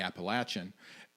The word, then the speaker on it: Appalachian: for saying Appalachian yeah like if you're from West Virginia don't sit no latch not lay so that the correct pronunciation there was a correct pronunciation and it was absolutely Appalachian and say it right